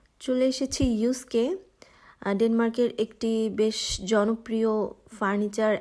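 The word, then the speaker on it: Jysk: নাম দেখে নিশ্চয়ই ভাবছেন এটা তো জিস্ক এটাকে কেন আমি ইউস্ক বলছি এটাই আসলে ড্যানিশ ল্যাঙ্গুয়েজের একটা প্রবলেম সেটা হচ্ছে দেখতে যেরকম দেখা যায় আসলে প্রোনাউন্সিয়েশনটা সেরকম হয় না লাইক এখানে ওরা ওয়াই কে উচ্চারণ করে ইউ এর মতো আর জে কে উচ্চারণ করে ওয়াই এর মতো দ্যাটস হোয়াই যখন এটা জে ওয়াই এস কে সেটা হয়ে যায় ইউস্ক তো যাই হোক আমি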